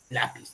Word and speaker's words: lápiz: inconsciente ya la pis dónde rica la mayor fuerza de voz lpis o lapiz lápiz no es acá es en la penúltima sílaba Entonces es grave todos